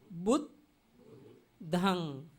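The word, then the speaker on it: buddhaṃ: At that time, the first joined word we have to pronounce with beginning word. Bud, bud, bud, dhang, bud, dhang. This means only two syllables, two letters, according to the Pali.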